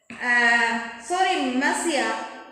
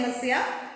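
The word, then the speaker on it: Monsieur: Pastor, sorry, Messiah. That's impossible. Messiah here means that a word pronounced like a Messiah.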